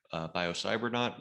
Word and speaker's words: biocybernaut: n a u t rhymes with astronaut and a biosaver knot